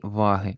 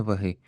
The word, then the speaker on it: ваги: такі ваги і використовують Зверніть увагу на наголос Терези а не Терези і ваги а не ваги оскільки багато дослідів проводять